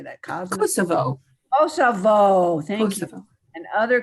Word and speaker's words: Kosovo: secure economic and voting rights for women in Kosovo. How do you say that? Kosovo.